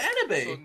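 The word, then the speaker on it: Enoby: Enobi, don't you dare mispronounce Enobi's name. I said So Enobi.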